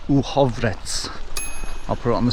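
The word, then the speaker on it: Uhrovec: Again, it's not said as it's spelt. I believe it's pronounced Uhovrec.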